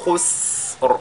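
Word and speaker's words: خسر: Ce qu'il faudra donc qu'on fasse ici, c'est d'allonger la prononciation, n'est-ce pas, de ce signe-là. Donc, khus. Et le Ra suit après. Khusr.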